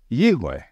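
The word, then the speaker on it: יהוה: So, in my opinion, the pronunciation of the name Yod-Heh-Vav-Heh is Yahweh.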